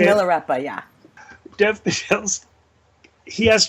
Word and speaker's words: Milarepa: Great disrepair, and his life his life is like that Buddhist god you were talking about, Malepura. Is that how you say it? Milarepa, yeah.